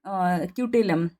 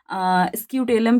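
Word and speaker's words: scutellum: है उसका नाम है क्यूटेलम जिसको हम क्यूटेलम या स्क्यूटेलम भी कह सकते हैं। मतलब एस यहां पे साइलेंट है।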